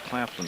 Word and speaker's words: Claflin: It's Claflin, number 3.